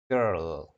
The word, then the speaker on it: girl: Girl chữ g với chữ ơ ha, nhưng mà thực ra đúng thì mình phải là girl. Nó sẽ có chữ r và chữ l luôn. Nếu mọi người đọc đúng thì mình sẽ đọc là was there a girl? Was there a girl? Cái chữ l nó sẽ uốn lên, chữ r nó cong vô xong nó uốn ra ngoài lại.